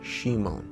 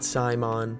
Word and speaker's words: Simon: just to quickly clarify it is pronounced shimon not saimon and especially not shimon because then it just sounds like someone saying semen with a speech impediment anyways both boys have